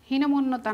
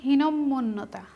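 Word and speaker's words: হীনম্মন্যতা: এখানে কি ভুল, আমরা এটার উচ্চারণই করছি ভুল, হীনমন্যতা না, শব্দটি হচ্ছে হীনমন্যতা। শব্দটি হচ্ছে এখানে দুইটা ম, হীনমন্যতা শব্দটি সঠিক হবে ম সংযুক্ত ম, আর এটা হচ্ছে ভুল।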